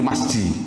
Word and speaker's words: masjid: Oh, tidak ada orang baca misijid, tidak ada, Pak. Mesti ada nggak orang baca misijid, ada nggak? Nggak ada ya. Bacanya mesti masjid.